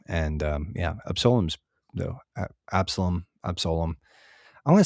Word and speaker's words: Absalom: That's an OM, Absalom.